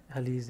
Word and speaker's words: Alizai: You pronounce Alizai, yeah? Alizai.